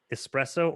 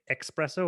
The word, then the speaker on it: espresso: too but any time somebody says espresso or especially and they say expresso or especially it's not